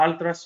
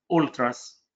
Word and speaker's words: ألتراس: ألتراس، ألتراس هو لقب يلقب به المشجعون المتعصبون لنادي معين، وتنطق ألتراس وأحيانا أولتراس في بعض اللغات الأوروبية اللي من أصل اللاتيني تحديدا.